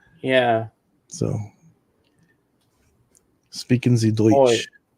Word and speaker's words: Deutsch: Deutsch. Yeah, it's pronounced as oi. Oi.